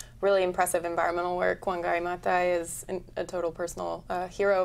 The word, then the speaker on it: Maathai: And in terms of really impressive environmental work, Wangari Maathai is a total personal hero of mine.